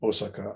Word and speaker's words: Osaka: Sorry, I'm using the modern pronunciation, Osaka. I'm not using a Z.